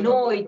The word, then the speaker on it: noi: and coaches saying this, for a lot of people they make it rhyme with the English word boy. Mm-hmm. See, so they say noi, right?